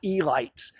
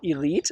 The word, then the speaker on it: Elites: It's spelled elite like we would spell elite, but if it was 1940 and you were in Baltimore, you did not say elite. You said the Elites.